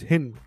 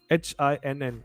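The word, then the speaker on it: Hinn: type of gin okay it's called as hin h-i-n-n i hope i'm pronouncing it correctly hin is a type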